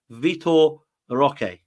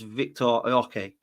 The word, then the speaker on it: Vitor Roque: It is Vitor Roque, or the R, I believe, is not pronounced. So it's Victor Roque.